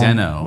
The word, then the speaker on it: Deno: Deno. Well, I don't know. Dino. I mean, how do you say that? Deno, Dino, whatever It's else. Dino. The author has said it's Dino.